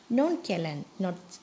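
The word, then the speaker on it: nonchalant: Non-calant, non-challant. Children, its pronunciation is non-calant.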